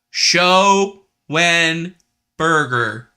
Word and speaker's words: Schoenberger: Schoenberger Thomas going Burger say it with me now Steve show when Burger it's exactly how it's spelled uh we'll get to